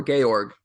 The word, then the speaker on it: Georg: is that correct yeah George or gorg would be the German way to say it okay and then correct